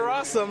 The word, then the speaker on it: Rosum: it's going over to rossum rhymes with awesome against andrews solano i